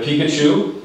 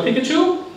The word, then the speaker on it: Pikachu: you said pikachu but it should be emphasized on the second syllable which is uh on the first syllable which is pikachu okay so very good